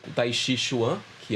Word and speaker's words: Chuan: é caminho, Chi é energia, e Chuan, o Chuen, né, pela pronúncia, é universo.